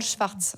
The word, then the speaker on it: Szwarc: Je ne me rappelle plus votre nom, c'est Schwartz. Alors c'est compliqué, ça s'écrit.